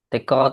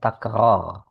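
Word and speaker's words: تكرار: iadatan wafadola faudhu ala fazuru tikr ziar takror tikrar itu enggak ada itu. Nah, tikrar itu kesalahan yang tersebar. Yang benar cara membacanya takar.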